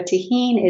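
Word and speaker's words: Tajín: So tahine is spelled Tejin.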